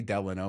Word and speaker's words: Delano: it's going away because people correct me all the time when I say Delano which is the correct way to say it but I uh